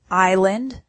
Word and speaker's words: island: We have words with silent letters, like thought, island, and muscle.